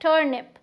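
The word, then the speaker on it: turnip: तो इसे हम टर्निप तो नहीं बोल रहे, हम क्या बोल रहे हैं? टर्निप। तो हमें टर पे स्ट्रेस देना है।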